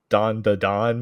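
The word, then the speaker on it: Dandadan: The first one is this, do we just say this Don da Don? Is that all it is? Yes, that is correct. Just say it like that. Yep. There's no other weird pronunciation or whatever.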